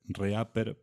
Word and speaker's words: REAPER: si no lo conocen se escribe reaper pero es reaper este es un software